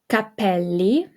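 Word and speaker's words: capelli: a CH sound again Capell Capell okay means hair so the ca as you recall the ca makes a c sound okay so the ca Co and CU C and then we got the Double L so it's held a little bit longer so Capell okay now here we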